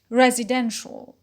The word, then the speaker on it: residential: word is resident resident when we have added the stress shifting suffix ial the stress shifts to the penalty and becomes residential residential so stress shift and